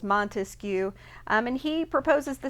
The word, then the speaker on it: Montesquieu: you know if you if you clap it out three syllables montesquieu um and he proposes